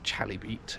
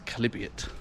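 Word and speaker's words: Chalybeate: the uh the calibute well notice it's not pronounced Charlie beat it's calibute and uh this uh is where the oh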